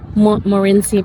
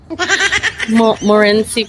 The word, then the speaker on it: Montmorency: Makunan yung ano, Morenci Falls. Parang nabungi na ako guys. Morenci Falls. Kasi silent T daw. Morenci Falls.